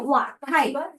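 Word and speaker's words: 滑稽: 咁啊有啲好滑稽，呢個字咧讀作滑稽，真係好搞笑，滑稽。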